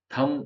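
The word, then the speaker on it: thumb: सड W silent है वैसे ही थम जो है थम है उसके अंदर बी साइलेंट है थम थम है ये एक्चुअल में थम ये ब भले ही इसमें आ गया है पर ये ऐसे बला थ म टी एच य एम थम ब नहीं बोलना है उसम इस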